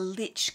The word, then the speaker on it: lich: And if you see I-C at the end of a word that's of Anglo-Saxon origin, it was originally pronounced I-C-H, so itch. So we've got the lich gate.